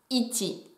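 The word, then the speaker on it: 一: Si vous savez déjà compter en japonais, vous saurez qu'il se prononce ichi.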